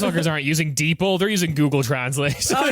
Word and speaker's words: DeepL: about deeple fair enough is it pronounced deeple I sure deep l deeple I thought it was deep L but okay I'm like